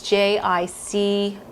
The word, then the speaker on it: jicama: in the store and it's spelled with a j so it's j-i-c-a-m-a i think jicama okay so what i'm